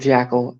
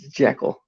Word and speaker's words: Jekyll: on how that grows yes i said jackal it's jekyll i know sometimes i say it right sometimes i don't if it was like one insane when i say his name cause i think about the jack when i see it not jack uh jackal